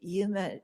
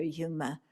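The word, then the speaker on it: Juma: Yeah, and they're still remembering their Yuma heritage. Yuma is spelled J-U-M-A.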